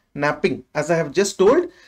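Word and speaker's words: knapping: process is called as napping K is silent so it is called as napping so because of napping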